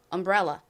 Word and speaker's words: umbrella: 그리고이 단어의 가장 큰 강세는 앞부분이 아니라 뒷부분 부분에 있습니다. 그래서 umbrella가 아니라 umbrella umbrella 이렇게 뒷부분을 강조해서 발음해 주셔야 됩니다.